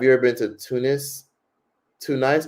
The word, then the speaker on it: Tunis: Tun nice or tunise? Tunis, that's how you say it.